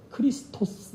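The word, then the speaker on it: Χριστός: 어쩌고 오라고 보면 되는데 그리스어로 는 메시아를 크리스 토스 라고 불러 그렇게 우리말로 번역하는 과정에서 중국측 발음에 영향을 받아서 우리는 그리스도 오라고 보지만 정확한 원하는 크리스 there's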